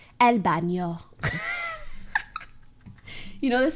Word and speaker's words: baño: The way I try to pronounce these N's, I don't know how to explain it, but I try to pronounce like there's a squiggly in my voice. El baño.